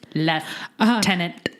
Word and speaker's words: lieutenant: there is an F in it as in leftenant further response nomads from London England because it's the correct pronunciation snaps hot take very hot take anyway